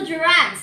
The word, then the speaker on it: gerund: Okay, this is the gerunds that you said a while ago. Okay, you are right, Michael. So, this is a gerund. A gerund is pronounced ger or G-E-R and or U-N-D. Gerund.